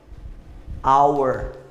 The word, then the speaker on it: hour: ter uma olhada aqui hôtel hour o que que acontece esse our que é mudo se eu tirar o h e continua our mas o seu agrado